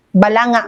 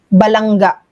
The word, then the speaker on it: Balanga: Bataan as balangga. Balangga, Bataan. Parang ang tagal-tagal mong Pinoy tapos ilang taon ka naman ng presidenteng ginagawa mo yan, how can you still mispronounce balanga as balangga?